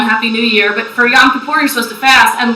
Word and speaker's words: Yom Kippur: So, pronounce it for us. Yom Kippur. Yom Kippur. Now, Yom Kippur, this is right.